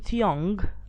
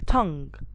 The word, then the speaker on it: tongue: that we can get is going to be guide i'm not saying guys i'm saying guide i'm not saying to young i'm saying tongue i'm not saying guard i'm saying guard so whenever i have g and u the u gets silent most of the time so as you can